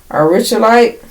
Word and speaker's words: aurichalcite: This sacred crystal, if I'm saying it right, is aurichalite. It's spelled AURICHALCITE.